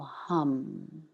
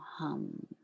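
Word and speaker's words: ham: light and into this we can drop the syllable hum h a m hum preparing by inhaling together deeply exhaling completely inhaling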